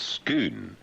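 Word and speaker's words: Scone: True to their word, the bombs major says the stone also known as the stone of schoon. It's pronounced s c o n e. It's skoon.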